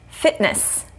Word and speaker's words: fitness: word fitness fitness fitness so the vowel sound is before the t and the n sound is after so fitness fitness no releasing the air i'm not saying fitness fitness would release the air so we're gonna stop the air before it comes out of our mouth with our tongue and lips fitness in